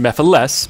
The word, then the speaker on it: Mephiles: But first, some of you may not know of Mephiles. Who are you? And how do you know my name? And yes, I know it's pronounced Mephiles, but this is how I say it.